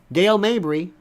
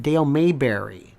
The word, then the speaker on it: Dale Mabry: Minnesota something like that Dale Mabry Big Stretch in Tampa also people pronounce it Dale Mayberry they mispronounce it like Bradington they they